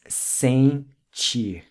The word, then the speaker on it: sentir: Notice how the en in Portuguese is pronounced en, like it's got a G attached to it, not en like in Spanish. So it's sentir.